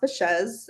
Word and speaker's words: Baschez: Yeah, so it's pronounced Baschez, Mhm. and basically, you've probably never heard about it because my husband and I joined our last names. So he was Bashaw and I was Sanchez.